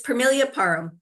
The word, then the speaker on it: Permelia Parham: it param what do you how do you pronounce yourself it's pilia param right you got it excellent and what I